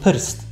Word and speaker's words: prst: Ostatnia rzecz to wyrazy, które nie posiadają w pisowni żadnej samogłoski, a w wymowie tworzą nam y. Takim przykładem chociażby jest słowo prst, czyli palec, a także sama nazwa kraju chorwacka. Tam też będzie to y.